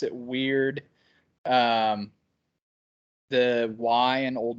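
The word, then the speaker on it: wyrd: there should probably be pronounced like a surfer dude saying dude so it'd be more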